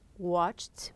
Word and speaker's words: watched: it we have here watched watched with a t we have after that